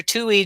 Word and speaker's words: Tuohy: Tui, and if you don't know how to spell it, it is Tuohy, right?